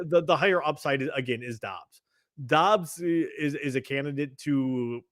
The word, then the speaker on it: Dobbs: Or Daubs. How do you say his name? It's Dobbs. Dobbs. It's pronounced Dobbs.